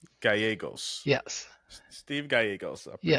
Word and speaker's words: Gallegos: So two L's in Spanish are pronounced as a Y. So it's Yeah. Gallegos. Gallegos. Yes. Steve Gallegos. I appreciate it. Yes. Because I'd have said Gallegos.